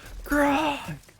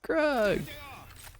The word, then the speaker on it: Grug: Grog. Yes, it's Grug. And Kelvin actually wears Uggs. Rhymes with Grug.